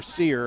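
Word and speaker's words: Serr: Sir on the tackle, or Sear, I think. S-E-R-R says, pronounced like the old store, Sears.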